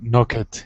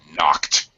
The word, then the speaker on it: knocked: We have to use Knocket. Knock it. Knocked him down. That's it. You got it the last time. Knocked. T sound.